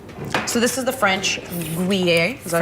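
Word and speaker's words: Gruyère: So this is the French Gruyere. Is that how you pronounce it? Gruyere.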